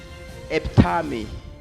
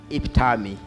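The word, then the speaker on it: epitome: The pronunciation of that word, there are two pronunciations. One can be epitami, or iptami. Right?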